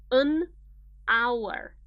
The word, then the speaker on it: hour: But pay attention to the pronunciation. An hour. Ah. The first sound that you hear is a vowel. And this is what matters. This is what's important.